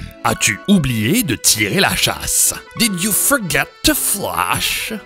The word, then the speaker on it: chasse: And now make sure you pronounce chasse and not chiasse, because otherwise this would mean tirer la chiasse to throw my poop.